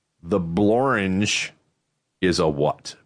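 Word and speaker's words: Blorenge: A rare example of a word that rhymes with orange. The blange is a what?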